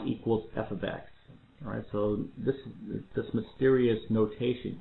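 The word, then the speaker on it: f(x): This little symbol here means f of x. That's how we pronounce that, f of x.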